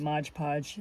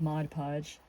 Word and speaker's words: Mod Podge: Well, it's funny that I was calling it Modge Podge and had no idea it was called Mod Podge.